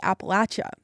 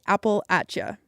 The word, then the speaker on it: Appalachia: Um, but I quickly realized that more commonly people say appalacha. And so now that's what I say. I say appal ata. I've heard plenty of folks who say it both ways.